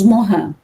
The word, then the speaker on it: Morin: Então, se escreve Morin, mas nós falamos Morin.